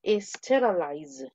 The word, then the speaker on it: sterilize: Y la segunda, sterilize, pero con Z. Tienes que hacer la pronunciación del zumbido. Sterilize.